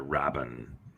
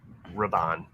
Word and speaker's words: Raban: Richter Rabin. Raban. Rabin. Raban. Rabin. You're not putting the accents on the like syllables.